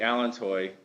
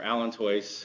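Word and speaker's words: allantois: we already pointed out the Allen toy or alento however you want to uh pronounce it it is a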